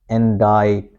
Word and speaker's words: indict: its original sound I, and after I we don't pronounce C. This is silent here. So we say indict, indict, indict, indict, and then this is a very special sound, okay?